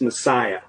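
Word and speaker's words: MSIA: ] that means and they go by the acronym Ms I a which they pronounce Messiah oh W really it's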